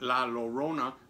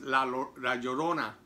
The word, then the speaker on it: La Llorona: I was mispronouncing it, or I was reading it in English rather. I was saying that La Llorona, but it's not, it's La Llorona.